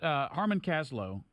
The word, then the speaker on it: Harmon Kaslow: Tell us, Harmon Kaslow, am I pronouncing that correctly?